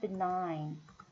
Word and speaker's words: benign: 여기도 보면은 두 번째 음절의 강세였잖아요. benign.